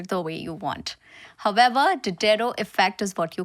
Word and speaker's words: Diderot: is no proper pronunciation to it you can pronounce it the way you want however dero effect is what you call it dero effect